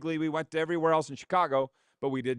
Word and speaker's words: Chicago: We were in Chicago last year, which if you know anybody from Chicago, it's one syllable. Chicago. One syllable. Chicago. It's not Chicago.